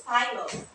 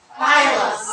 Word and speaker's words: Pylos: The stress is on the first syllable. Ithaca. Follow after me. Ithaca. Ithaca. Okay, continuous. Antinous. Ogygia. Ogygia. Pylos. It's Pylos. Pylos.